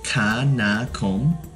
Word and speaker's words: Kanakom: I mean, I don't blame them, but I would love for them to know how to pronounce it. So, it's Kanakom.